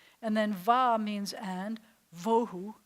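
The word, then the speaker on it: ובהו: Vohu, you just expelled all of your air again.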